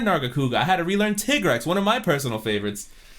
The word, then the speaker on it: Tigrex: trailer do not pronounce it like that it is it is tigrex it is tigress it's a hundred percent i am so upset